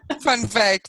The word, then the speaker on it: Van Wyk: And today's expert is Van Wyk. Did I pronounce that properly? Van Wyk, but yes, close enough. You know, we Brits, if we see a letter there, we've got to pronounce Van Wyk.